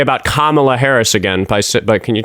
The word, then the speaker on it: Kamala: Like like Camala Harris supporting an agenda that's only going to benefit black men. Can you pronounce it correctly? It's Can I get a sentence out without Kamala?